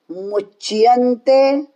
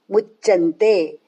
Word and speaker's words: मुच्यन्ते: शिनस संतो, यज्ञशिष्टाशिनः संतो मुच्यन्ते, मुच आधा च उसको य, मुच्य मुच्य मुच्यन्ते मुच्यन्ते, फिर क्या नहीं बोलना, मुच्चन्ते मुच्चन्ते, इसमें डबल च आ जाता है, मुच्च, इसलिए मुच्चन्ते नहीं बोलना, यह गलत उच्चारण, आधा च और उसको